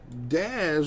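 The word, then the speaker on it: Dazz: he is a stealer daz rhymes with jazz he's a bear pat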